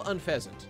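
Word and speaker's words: Unfezant: and un feasant okay I know un feasant that's definitely un feasant it's like unpleasant that's the joke that's the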